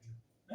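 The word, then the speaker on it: μ: 이렇게 읽을 때 뮤라고 읽으면 돼요. 뮤.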